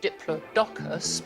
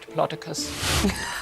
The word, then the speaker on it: Diplodocus: And the correct answer is what I would pronounce as diplodocus because that way you get the diplo dupllo dous bean but unfortunately people pronounce it diplocicus try a poor so